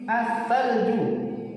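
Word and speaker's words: الثلج: Meskipun bacanya benar, tapi tulisannya salah. Ini versi yang salah, ya. Harus ada lamnya. Dia tertulis tapi tidak terbaca.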